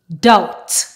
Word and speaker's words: doubt: middle PL ummer plumber words that don't follow this rule but the B is silent are death doubt subtle thank you very